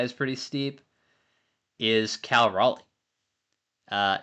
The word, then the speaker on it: Raleigh: pretty steep is Cal Raleigh. uh not pronounced like the South Carolina town, but I do think he is one of the better options specifically from a power perspective.